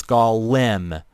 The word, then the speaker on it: Golem: But I know it's Golem, but I usually just pronounce it Golem because it's easier to pronounce that way, and it's pretty much the same pronunciation.